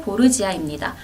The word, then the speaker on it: Borgia: 있는 은은한 단맛의 커피입니다 카페 보르지아입니다 부르즈와 발음이 비슷하죠이 보르지아는 이탈리아의 귀족 가문을